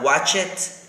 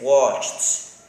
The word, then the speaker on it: watched: It's not watch it, it's watched, kissed, danced, and fixed.